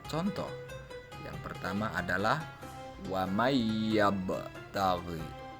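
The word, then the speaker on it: وَمَن يَبْتَغِ: Yang pertama adalah wa mayyabtaghi. Bukan waman yabtagi, tetapi huruf nun itu dimasukkan ke dalam huruf ya. Huruf nun dileburkan ke dalam huruf ya, sehingga cara membacanya wa mayyabtaghi.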